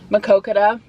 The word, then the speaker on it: Muscatine: Funny story, every time I see the name Muscatine, which is how you say this town's name, I think of it being pronounced as Makokita.